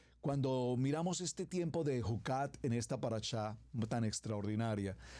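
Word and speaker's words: חקת: Es la palabra Jucat. Esta palabra Jucat se escribe J-U-K-A-T.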